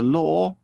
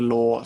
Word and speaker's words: law: so i'm feeling low i often hear confusions with law and low just make sure you get the good ore sound the very small mouth and the o distinct from each other moving on to another